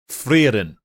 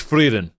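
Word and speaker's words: Frieren: Naruto okay bro stole my joke uh it's frein F it's freen so there's a good reason why himl also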